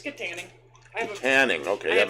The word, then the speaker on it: Kittanning: It's Kittanning.